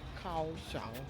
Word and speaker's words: Kaohsiung: If you're ever in Kaohsiung, Kaohsiung, that's how they say it.